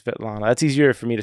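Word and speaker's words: Svetlana: Sana or is it sveta it's it's it's it's spelled Asana zacharova okay so it's vet Lana that's easier for me to say than sveta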